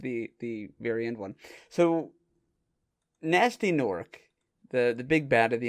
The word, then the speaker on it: Gnasty Gnork: So, Nasty Nork, the big bad of the entire thing, or as they call him, Gnasty Gnork, because Nasty Nork is spelled with G's.